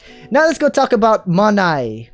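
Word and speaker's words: MONI: were going with um you could pronounce it money but that's not how you spell money so you say manae monsta infinite token manai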